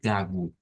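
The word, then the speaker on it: gago: Lo vamos a pronunciar como G, pero nótese que hay una O al final. ¿Ve? Entonces ya podríamos ir como adelantando qué va a pasar con esa O. ¿Ve? Que se convierte en una U. Entonces, ese está bastante fácil, por lo menos en el portugués brasileiro, no tendríamos mayor dificultad en pronunciarlas como gagu.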